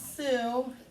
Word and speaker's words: Sioux: it lakota and the other one is sue but it doesn't spell like s-u-e like a name it's s-o-i there might